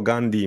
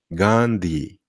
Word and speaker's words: Gandhi: znaczy brudny gandi brudna ale jego nazwisko musimy wymawiać używając dwóch rzeczy o których powiedziałem Po pierwsze to a jest długie i po drugie po D jest h czyli po tym d musimy powiedzieć Gand gandi czyli nie gandi tylko